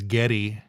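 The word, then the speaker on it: Geddy: to Canada after the war and his mom pronounced Gary as Getty gy MH and so all of his friends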